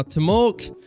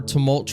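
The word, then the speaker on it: Temulch: case you didn't know to mulk or to mulch rather that's how you really pronounce his name um he's still not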